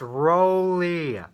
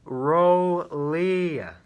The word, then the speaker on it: Rolle: if you're watching this it's rolia rolia he's not silent hmm but uh it